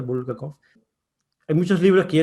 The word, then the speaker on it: Bulgakov: Maestro y Margarita de Bulgakov, creo que se pronuncia Bulgakov.